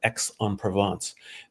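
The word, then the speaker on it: Aix-en-Provence: you know there's a region called X on Provence. X is spelled AIX and I said to her where where does that word come from?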